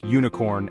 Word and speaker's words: unicorn: like unicorn and ukulele these words start with the letter U but they sound like they begin with u even though they start with U the sound they make is more like a u which is a consonant sound so we say a